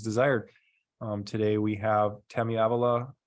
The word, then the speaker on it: Avalos: Today we have Tammy Avalos. How do you pronounce it? Avilas.